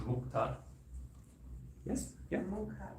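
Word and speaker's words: मुख: You're saying mukta, but it's mukha.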